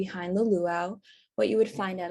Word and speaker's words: luau: originated from polynesian and hawaiian culture and it's pronounced luau the term luau stands for young tarot tops